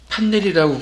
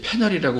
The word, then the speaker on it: 패널: 어찌됐든 그 두 개의 창이 왼쪽, 요 체크무늬 회색 창은 프론트 패널이라고 쓰여져 있습니다. 물론 파일 이름을 지정을 안 했기 때문에, 저장을 안 했기 때문에 이름 없음 1 프론트 파넬이라고 되어 있죠. 판넬이라고 굳이 제가 강조해서 얘기한 거는, 우리 그 전기 판넬들 있잖아요.